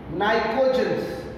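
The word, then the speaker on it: pnictogens: Group number 15, nitrogen family, or its another name is nitrogens. Here P is silent.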